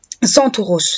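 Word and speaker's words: Κένταυρος: par les auteurs antiques en grec le terme Centaure se prononce sans Tauros donc en grec sont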